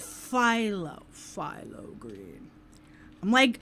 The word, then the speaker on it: phthalo: So is that phthalo? Is that how you would pronounce that? Or is it philo?